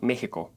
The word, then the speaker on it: México: in Spanish is called Mexico another word like that is teas even though both of the words are spelled with echis they are pronounced like letter H in the word ham these two words are